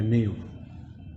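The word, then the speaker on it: knave: Fourth word number 4 करें, नेव, KNAV, इसमें जो के है वो साइलेंट है, नेव।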